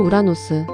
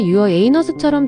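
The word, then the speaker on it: Uranus: 영어로 우라노스. 발음에 따라 유어 에이너스처럼 들릴 수 있어서 영어권에서 오랫동안 개그 소재였어요.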